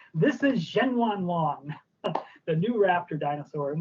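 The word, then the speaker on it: Zhenyuanlong: It is this dinosaur, this new species, and you pronounced it beautifully, I have to say. This is Zhenwanlong, the new raptor dinosaur.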